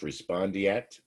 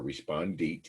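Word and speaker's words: respondeat superior: It's pronounced respondeat or respondit, either one is fine.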